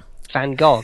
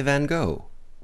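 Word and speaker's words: Van Gogh: think uh Vincent F van go he had wait a minute now how do how do you say name correctly please it it sounds like you're about to vomit V van can you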